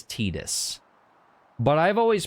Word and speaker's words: Tidus: out pretty damn quick this is the name supposed to be a pun word is tight ass so i his actual pronunciation is tidus but i've always pronounced